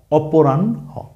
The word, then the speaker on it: অপরাহ্ন: আগে উচ্চারণ আছে ন, পরে উচ্চারণ হবে হ, অপরাহ্ন।